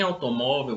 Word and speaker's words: automóvel: Em automóvel, vocês podem observar que é a penúltima.